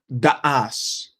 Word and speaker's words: Da'as: It's actually not because the correct pronunciation in Arabic of my last name is actually Da'as. It's 2 separate syllables.